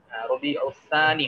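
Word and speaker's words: ربيع الثاني: আছে মুহাররম সফর আমি আমরা যদি মানে সঠিক আরবি উচ্চারণটা করি তাহলে এভাবে করতে হবে রবিউল আউয়াল রবিউসানি রবিউসানি হবে এখানে সা এর সাথে আলিফ হবে সানি রবিউসানি এগুলো কারেকশন করে দিতে হবে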